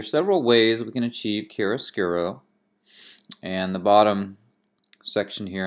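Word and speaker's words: chiaroscuro: top that's it's pronounced Kerris giro it's an italian word and it means the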